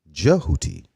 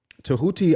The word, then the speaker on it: Djehuti: right to the chase or some say jehuti jehuti there are many different ways uh you can pronounce uh this comedic deities name this principle of nature's name okay um tahuti I would say is